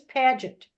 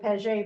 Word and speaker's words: Paget: Rhymes with gadget. Okay. All right. They say it's Paget, but I was always told Paget, but of course I heard about it in Canada.